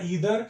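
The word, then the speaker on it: either: आइदर या ईदर, आपको जो भी प्रोनाउंसिएशन सही लगे, सही दोनों होता है।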